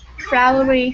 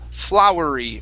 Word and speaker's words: flowery: flowery fields try that trowery fears okay full now when you pronounce the f l your tongue should touch the top of your mouth full flowery flowery fields flowery fear